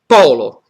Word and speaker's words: polo: So we can take an example is polo in this sentence. Polo is pronounced open, broad, e pollo. So polo is pole, for example, North Pole, el Polo Nord, and pollo, which is chicken, is pollo.